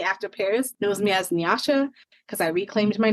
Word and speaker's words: Nyasha: So I decided to say Nyasha instead of Nyasha, which is how the correct pronunciation of my name.